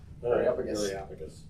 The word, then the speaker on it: Areopagus: Areopagus.